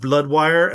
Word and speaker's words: Bludwire: This one's called Bludwire, as in Bloodhaven. Yes, it's spelled B-L-U-D.